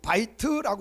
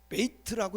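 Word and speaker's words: בית: 이 집이라고 하는 것은 바이트라고 했는데 원래는 베이트라고 읽어도 돼요. 바이트 혹은 베이트.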